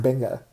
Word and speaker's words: venga: word which means come that's true it's actually pronounced benga which is a fun little so they don't